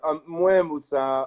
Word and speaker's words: Moe Musa: Yeah, Moe Musa. A lot of people call me Moose to just shorten it up, but it's Moe Musa, yeah. Or Mumusa is an easy version too.